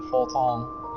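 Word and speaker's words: Fortemps: Edmond is Edmond Fortan, the leader of the Fortan. Sorry, it's French, it's pronounced that way.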